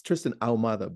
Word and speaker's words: Ahumada: AUM ma that's it trist it's Tristan alada but I phonetically pronounce it right a h u m